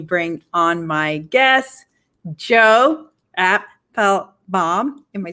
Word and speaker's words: Apfelbaum: You're saying it right, Joe Apfelbaum. That's right. He gave me a 101 tutorial on how to say his last name is 3 syllables.